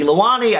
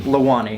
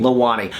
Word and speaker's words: Lewani: Michael Buckley and this is my friend leani I just said how do you say your name lewani lewani um works here at playlist and so